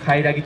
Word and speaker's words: 海荒鬼: は海賊、なお海を荒らす鬼と書いてカイラギと言います。